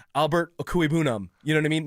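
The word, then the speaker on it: Okwuegbunam: been the toughest one we've ever had to pronounce. Well. And it was Okuebunam. It was tough until someone just said, this is how you freaking say it. Yeah, Drew Lock did. Yeah. Drew Lock said Okuebunam.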